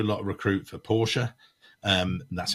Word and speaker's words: Porsche: instance we do a lot of recruit for Porsche um that's how you say it because that's